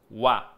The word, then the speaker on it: は: tanto la expresión en sí esto se lee ua se legua cuando es una partícula ua se lee ua sólo hay dos palabras que